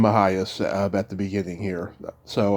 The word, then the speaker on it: Mejias: Whenever I talk to people who guest Mejias is technically how it's supposed to be pronounced, but yeah.